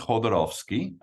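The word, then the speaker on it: Jodorowsky: a book about Alejandro jodorowski is that yeah so it's it's pronounced holdorovski um or sometimes he's known as Hodo uh uh for short uh the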